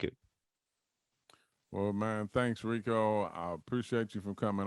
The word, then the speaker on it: Ricco: it very simple you know what i mean rico r-i-c-c-o last name my last name rhymes with hennessy so there you go you